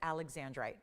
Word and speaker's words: Alexandrite: just like it's written you pronounce it Alexandrite so um little confusing sometimes because there was a zar Alexander but it's not Alexander it's Alexandri so again they shorten